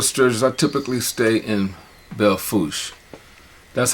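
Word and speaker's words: Belle Fourche: i go to sturgis i typically stay in belfouse that's how the locals pronounce it it doesn't have the accent over the ease so you don't say bella fouche it is actually the foosh and most like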